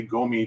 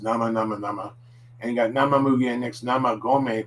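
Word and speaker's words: 生米: amy don't say me don't say go me because that means garbage and that would be fresh garbage or burnable garbage it's gourmet now that so nama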